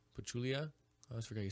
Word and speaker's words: Pachulia: we talked about earlier um we do have Patchouli pachulia I always forget you say his name Zaza